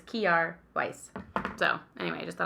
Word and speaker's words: Kjaer Weis: by any brand, but they actually told me the proper pronunciation, which I was like, I'm sorry that I so badly butchered your name. It's Kjaer Weis.